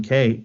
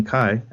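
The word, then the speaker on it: MacKaye: history of Minor Threat with Ian McKay or Ian McKai as I I'm understanding his name is pronounced now so I'm listening to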